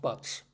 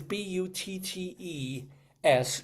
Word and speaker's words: Bott: Uh, and then I realized, oh crap, it's not pronounced butts. It's bu ts just like but Montana.